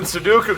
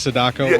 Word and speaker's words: Sadako: into this so then sudoku comes out of the web did you purposely pronounce her name sudoku that instead of sadako or yeah exactly yeah that was on purpose so sudoku comes out